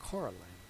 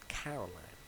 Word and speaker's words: Coraline: You know, kept saying Coraline, not Caroline. Not Caroline at all.